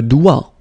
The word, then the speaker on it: doigt: Le doigt, le doigt, okay, so don't be frightened by this G because basically you don't pronounce it and then the final T you don't pronounce it. So the only thing you get to pronounce